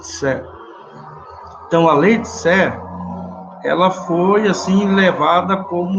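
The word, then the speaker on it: Say: lei de Sé eh tá escrito S Y né mas se pronuncia C Jean Batista Sé então a lei de Sé ela foi assim levada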